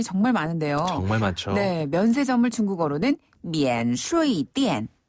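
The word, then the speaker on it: 免税店: 많은데요 정네 면세점을 중국어로는 미엔 슈이 띠엔 아 이것도 좀 비슷하네요네 비슷하죠 그 면세점의 한자어를 그대로 중국식으로 발음해서 미엔 슈 띠엔이라고 해요 어 이게 근데 그 성조가 오르락 내리락 하는게 있어서 좀 어렵습니다 천천히 배 볼까요네 첫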